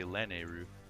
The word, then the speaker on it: Lanayru: And because it's like Nehru. Yeah. I still say Nehru. I just say Lanehru.